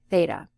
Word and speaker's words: theta: theta theta it's a Greek letter and it's pronounced like that so it's theta all right so then we have cosine of